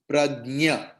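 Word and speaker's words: प्रज्ञा: See, when I am correctly pronouncing, it hears like ga I am using, but no, I am using ja.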